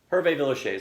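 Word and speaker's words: Hervé Villechaize: humping everything in sight Herve Villechaize that's how you pronounce his name thank you I didn't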